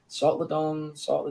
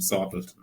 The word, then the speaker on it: Sortledton: Yeah, it's sorted. It comes from being sorted, sorted. And it's basically a simpleton idea, it's very simple. It's and that's the combination Sortledton in the end.